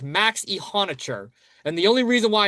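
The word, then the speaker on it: Iheanachor: Like I had to make sure all the pronunciations were right. Like I'm very confident on the Steelers. It's Max Ihonicher.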